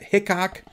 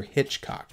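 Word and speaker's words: Hichcock: It kind of looks like it says Dr. Hickok, but it's supposedly pronounced Dr. Hitchcock.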